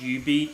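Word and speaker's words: jubeat: I think it's pronounced UB beat so the J is silent uh that's another Konami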